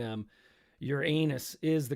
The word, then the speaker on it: Uranus: beautiful yeah uh kego mashuko is saying um your anus is the correct pronunciation no matter what others say yeah it's